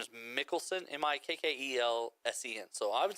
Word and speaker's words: Mikkelsen: It's Mads, M-A-D-S, and the last name is Mikkelsen, M-I-K-K-E-L-S-E-N. So I would say Mikkelsen. Mads Mikkelsen. Mads Mikkelsen. What a cool I name. would say. Mads Mikkelsen.